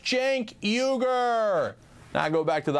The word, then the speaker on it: Cenk Uygur: It's pronounced Cenk Uygur.